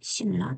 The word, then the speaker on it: 신라: 신라가 있어요. 대각선 동그라미 그려보면 니은과 리을이 만나죠. 이때 발음은 신을라 되죠.